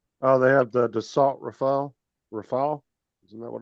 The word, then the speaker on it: Rafale: Oh, they have the Dassault Rafale.